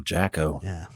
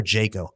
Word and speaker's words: Jaco: a Jaco Pastorius Oh Jack oh is it Jack over Jake oh I have Jack and I have heard it pronounced both Jacko Pastora oh he